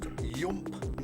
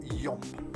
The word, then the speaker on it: Yoomp: And yes, you heard me right, it's pronounced Yoomp, not Yomp. Hence there's two O's in there.